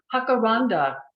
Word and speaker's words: jacaranda: radical Wonder last year Jacaranda hakaranda my mother used to say each spring when feathery leafed branches filled with bell-like flowers most people said it with a hard J and a short a as if it's Intimates